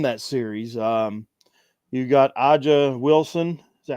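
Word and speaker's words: A'ja: off Liberty in that series um you got AA Wilson is that how you say it aa aa yes you you got her she's I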